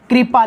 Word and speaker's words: कृपा: कई बार देखते हैं विद्यार्थी इसको र की तरह उच्चारित करता है, पर इसका प्रोनाउंसिएशन र की तरह करता है। जैसे कृपा लिखा है तो इसको कृपा बोलता है, आपकी कृपा है साहब, ईश्वर की कृपा है। अरे भाई कृपा नहीं है, कृपा है।